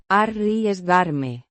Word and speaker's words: arriesgarme: Pronounced Arriesgarme. the R. is a strong, rolled. R.